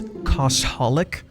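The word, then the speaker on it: Cosholic: It's Koshalik, which makes a lot more sense. You know, cosplay, holic, cosaholic.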